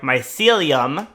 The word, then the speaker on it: mycelium: that we have all the melium removed sorry my celium I now know how to say it properly all the mycelium removed move from on